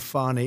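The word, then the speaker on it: Fani: treated you very unfairly she goes by the name of fonny even even though it's f a n i she wants to pronounce fny she's little little French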